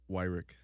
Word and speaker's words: Weirich: Weirich. Weirich. Yeah. I've heard it in like 3 different ways. Yeah, everybody pronounces it wrong.